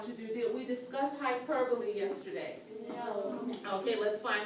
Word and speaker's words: hyperbole: if you also like it looks like it should be pronounced as hyperbole but it is hyperbole all right okay ladies